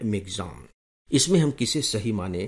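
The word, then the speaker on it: Michaung: बात तो यह कि अखबारों में इस तूफान को जो नाम दिया जा रहा है वह है मि चंग लेकिन रेडियो न्यूज़ में जो इसका उच्चारण किया गया है वह है मिग जाम मिग जाम अंग्रेजी में जो इसकी स्पेलिंग है वो है एम आई सी एच ए यू एन जी लेकिन आकाशवाणी का उच्चारण है मिग्जन इसमें हम किसे सही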